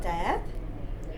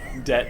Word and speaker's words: debt: Okay, so I deal with a lot of people and they have debt. No, I don't know how to say that. Debt. It's hard. Debt. It's almost don't pronounce the B. It's just D-E-T.